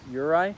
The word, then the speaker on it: Uri: Do you pronounce it Yuri or Uri? Uri.